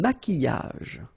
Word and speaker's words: maquillage: Un maquillage. Okay, so here, same rule, Q-U, but then U is not pronounced, so qui, and then y.